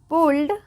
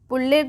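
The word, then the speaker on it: pulled: where that any वन पुल्ड पुल्ड पुड नहीं पुल्ड इट ऑन for wooden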